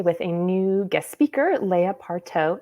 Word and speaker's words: Layah: are here today with a new guest speaker Leia parto it's Leia correct want to make sure I'm pronouncing it correctly exactly right yay okay just